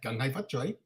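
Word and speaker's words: Kung Hei Fat Choi: That's how it's said, "Gung Hai Fat Choi."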